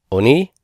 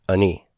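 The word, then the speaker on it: עני: And it's really a kametz ketuf with a shiva symbol, and it's either pronounced as a very, very short O, oni, or reduced to the point of no distinction, ani, ani. And this means affliction.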